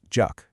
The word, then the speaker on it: 적: The second, jeok, is pronounced juk, and it means to enjoy.